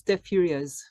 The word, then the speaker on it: Deux Furieuses: You don't pronounce the last S. It's Deux Furieuses.